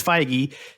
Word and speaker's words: Feige: how you pronounce the last name is Feige, said Yep, Kevin that Feige.